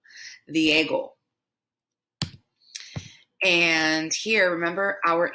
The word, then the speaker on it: Diego: jorge and then here you've probably said diego diego but it's the echo the ego the ego not d a go diego and here remember our